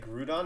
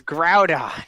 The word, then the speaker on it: Groudon: just make groudon team some people pronounce it groot on and i'm like bruh what the freak it's it's groudon it's white like literally